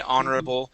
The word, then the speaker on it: honorable: Yeah, and we have some words that start with an HO, like our, honor, okay, honorable, and that we don't pronounce the H there, and so it's hard